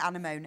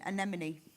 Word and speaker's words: anemone: No, you need to pronounce this for me because I can. Yeah. Anamone. Anemone.